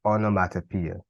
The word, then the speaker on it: onomatopoeia: so what is onomatopoeia now onomatopoeia would be another word that can be difficult to pronounce but it will be pronounced onomatopoeia and it will also be